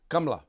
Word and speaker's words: Kamala: do you in Hindi how do you pronounce Kamala he says kamla yeah so I'm like